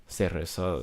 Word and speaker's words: cereza: Cereza is like spelled C-E-R-E-Z-A instead of this cereza. That's how you pronounce it in Spanish.